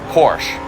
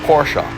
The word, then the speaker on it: Porsche: started playing this game I thought it was Porsche and part of that is being a Canadian where most of our exposure is from the United States where even on TV shows from the United States you hear the word Porsche said all the time it's like no it's two syllables it's Porsche that's somebody's name but